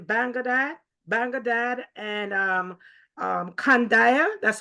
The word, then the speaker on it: Kandahar: Banglad and um um Kandaya. That's how you pronounce it. Yeah. Canor. Yeah. Canar.